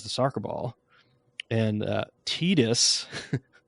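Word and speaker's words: Tidus: soccer ball and uh tetus I always pronounce Titus those are Final Fantasy 10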